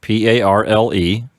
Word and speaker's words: parle: So let's add E to the stem, and that gives us P-A-R-L-E, which is pronounced parle.